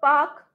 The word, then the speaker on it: park: taxi a house a park a doctor it's not Park it's not park at all Spark R sound is silent okay it's not calm